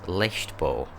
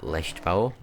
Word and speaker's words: Leichtbau: In no particular order, first up is the 1993 Porsche 911 Turbo S Leichtbau. I think I pronounced that right. That rather fancy German word, Leichtbau, actually translates as lightweight construction, which I'm guessing